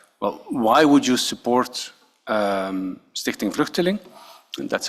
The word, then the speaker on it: Stichting Vluchteling: And of course, one of the questions I'm asking him is like, well, why would you support Stichting Vluchteling?